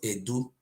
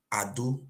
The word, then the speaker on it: Ado: our land is called it's not Edo boy it's called Ado we don't know how